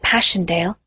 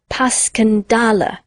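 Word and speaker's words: Passchendaele: was so strange to hear you call it passion dale why if i may ask because that's the way i pronounce it to myself but i looked it up and it's more like pascandala bless you all the tummies call it passion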